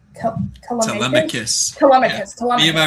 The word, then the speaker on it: Telemachus: Oh my god, I always forget how to pronounce his name. Telemachus.